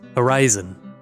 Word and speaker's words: Horyzon: Footnote: pronounced Horyzon, an anomalous, non-Euclidean effect, explained further into the article, which prevents almost any light from reaching the ground.